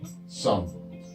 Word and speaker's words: some: Lead out to form the letter E, some. Come and some end with an E, but of course we don't pronounce those, so it's a silent E at the end.